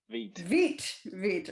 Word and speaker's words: Vite: Vite, is that how you pronounce it? Vite or Vite? Vite, right. Okay, so I wasn't sure about that. French. Yes, that's why I asked. I assumed it might be French, but then, you know, the